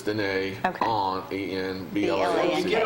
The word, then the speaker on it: Dîner: And it's DINE. It's spelled like dinner, but it's Dîner Okay.